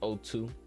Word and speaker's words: OTU: It's OTU, pronounced O2.